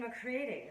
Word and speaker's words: McCready: Dixon. Dixon McCready. Rhymes with Sadie.